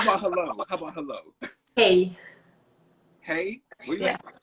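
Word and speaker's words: hej: Yeah, hey. Really? It's like that's how it is here. But not really, because it's a different, the Y is a J and it's pronounced J. So it's hey.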